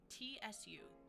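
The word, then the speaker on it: つ: Chi, tsu, so this is going to be pronounced T-S-U, tsu.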